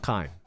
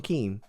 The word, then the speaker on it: Kim: John Kim, not John Keem.